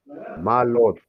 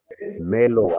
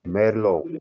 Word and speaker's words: Merlot: Let's go into the fourth grape, which is called Malot. Let's see the pronunciation. Merlot, actually, it is Merlot. There is a R there, so Merlot.